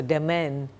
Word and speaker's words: demesne: Next, a demesne, okay, S is silent of course. So, demesne, it's resignation, region, lowly conduct, good behavior.